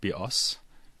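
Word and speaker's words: βιός: life in Greek and the word BOS with the stress on the second syllable means bow as in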